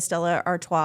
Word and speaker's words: Stella Artois: The Stella Artois, I think is how you say that.